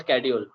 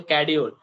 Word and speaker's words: schedule: about the accent, so it's called schedule, not schedule. S is Mm. silent and ch it K. The Okay. K or S is silent, so schedule.